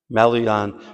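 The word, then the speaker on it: Maloyan: How do you pronounce his last name? His last name. Malon.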